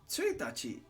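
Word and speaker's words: 一日: Tsuitachi.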